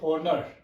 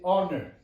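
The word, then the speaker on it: honour: H-O-N-O-U-R. You don't say honor, you say honor. So H is silent.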